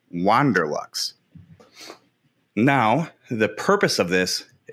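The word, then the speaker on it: WanderLux: I'm assuming it's spelled W-A-N-D-E-R, so it has to be Wander, not Wonder. Wander Lux.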